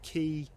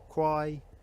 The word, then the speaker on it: Quy: I believe it's Kwai. Anyone from Stow-Cum-Quy watching this, do correct me in the comments if I've got it wrong. It's a funny spelling, isn't it? Q-U-Y, Ki, Qui, Kwai, Q-E.